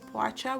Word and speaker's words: poğaça: So, although the correct spelling and the pronunciation of this is poğaça with the P that's the first letter. In colloquial language, we just say poğaça.